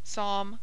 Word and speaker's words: Psalm: as in him condemn P before s and t is mute as in Psalm pseudo tarmigan pronounced Psalm pseudo tarmigan R has